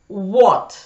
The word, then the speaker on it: what: В этих словах из двух букв W, W и H произносится только буква W, а H не произносится.